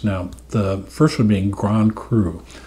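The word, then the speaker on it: grand cru: the first one being Grand crew spelled like Grand crew Cru which is the the best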